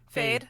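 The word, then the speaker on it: Feyd: start realizing, or Faid and fucking how to pronounce his name. Fade.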